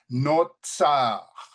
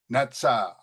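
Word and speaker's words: נצר: And here we have, again, notice the pronunciation. We have the T here, Natsar, Natsar, a primitive root.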